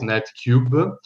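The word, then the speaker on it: NetQB: is called net qb which is going um to be pronounced as net cube and uh it's a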